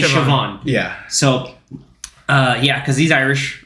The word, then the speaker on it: Siobhan: It's like if you've ever seen how Siobhan is spelled. It's like Siobhan. But it's actually Siobhan.